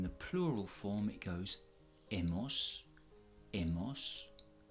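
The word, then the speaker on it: hemos: us ass ah no notice that I am dropping the H and I am not pronouncing the H at all so it goes egg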